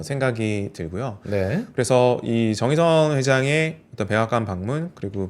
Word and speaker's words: 정의선: 우리 정의선 회장님께서 백악관으로 직접 가서 31조 4년간 투자하겠다 밝혔습니다. 굉장히 뭐 예 트럼프 대통령도 굉장히 반기고 뭐 화답을 의선 정의라고 안 하고 정의선이라고 똑바로 발음도 해 주고 자동차주 흐름 어떻게 볼까요?